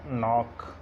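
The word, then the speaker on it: knock: नॉब, knife, इसी तरह नॉक, knowledge, इसी तरह नाइट और ये नीट, नॉट। ये एग्जांपल्स हैं। यानी एन से पहले के साइलेंट होता है।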